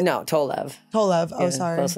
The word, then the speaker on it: Tolev: No, Tolev.